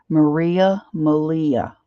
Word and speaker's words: Malia: And Malia said it's like Maria, but with an L. So I was going to say, Ann, if you're listening, Malia.